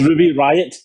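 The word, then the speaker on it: Riott: You need to pronounce it, otherwise why is it there? It's not silent. That breaks the rules of English. It's Ruby Riot What?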